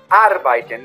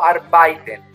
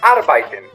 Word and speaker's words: arbeiten: Ich muss bis abends arbeiten quiere decir, cuidado con la pronunciación de arbeiten, ¿no? Ich muss arbeiten, no arbeiten. casi todos los extranjeros, casi todos los extranjeros dicen arbeiten, arbeiten, y no es correcto.